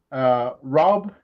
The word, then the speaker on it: Raub: And then he's hustling Anna Raub too, which is good. It's Raub, right? Rob, Okay. like rob a store.